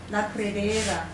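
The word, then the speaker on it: La Pedrera: the Pridre, it's called Casa Mia La Pridria, however you pronounce that. It actually stands for the La quarry. Pridera. What? La Pridera.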